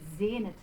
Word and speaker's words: sehnet: Sehnet. So there is our Z sound and our closed E, sehnet, sich.